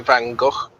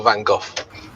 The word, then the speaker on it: Van Gogh: You can either say it with an Van F Gogh? or a H sound, like Van Gogh or Van Gogh.